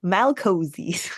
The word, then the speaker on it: Malcozé: No, we're talking about the Assassin of Malcozé. I hope I'm pronouncing that right. I mean, I'm assuming you are. You have the accent on the E, so you're good there. Malcozé.